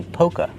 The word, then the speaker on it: polka: Not polka dot. The L is silent. We don't say polka dot, we say polka. Use a long O like no and go.